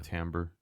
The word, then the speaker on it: timbre: You know, like the timbre of your voice. Like All right. like if you're doing a falsetto or like a, you know, Yeah. timbre. It's spelled Timbre.